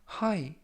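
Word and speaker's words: high: 뜻이 되겠습니다 이번 표현은 하이 하잉 하이 라고 발음 하시면 되겠구요 이 때 유의하실 점은 끝부분에 있는 쥐 h 가 묵음 이라서 발음이 되지 않습니다 품사는 형용사 뜻은 정도나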